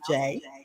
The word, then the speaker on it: Jai: know who I am my name is pronounced Jay Jay is Jay I want people to